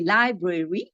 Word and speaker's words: library: We say, because we have library, we say library, when you write it, it's 3 syllables. But when you talk in English, you say library.